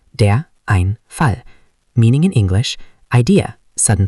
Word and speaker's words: Einfall: Pronunciation, der Einfall.